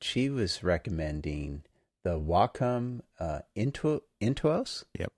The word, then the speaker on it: Intuos: She wants, as a student, she was recommending the Wacom Intuos.